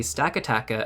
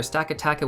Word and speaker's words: Stakataka: So it's going to be Stakataka and Blacephalon. So let's go over Blacephalon first.